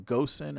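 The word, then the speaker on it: Ghosn: We have a problem pronouncing his name, Gosen or I think it's Gomes, like Gon.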